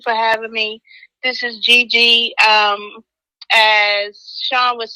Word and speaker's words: JeeJee: So it's JEE. JEE. So that's JEEJEE, but it's just spelled with a J.